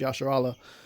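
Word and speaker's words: Yasharahla: Okay, you are the prince of the power, which in the Hebrew that's pronounced Yasharallah, which is the God's chosen people spoken of in Deuteronomy.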